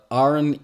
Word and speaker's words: An: The an here arn means man and gi means woman. Also, he says that it's pronounced arn, even though he writes an, whatever.